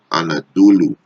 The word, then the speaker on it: Anadolu: Which is Greek pronunciation Anatoli, Turkish Anadolu, right?